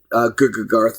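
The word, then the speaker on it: GGGarth: other people because I've, you know, I've seen GooGarth now that I know it's pronounced that way.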